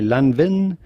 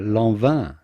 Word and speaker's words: Lanvin: typical french pronunciation gerla then comes love love no silent letters here per se to say lava do not say lanvin but rather love love then of course you'd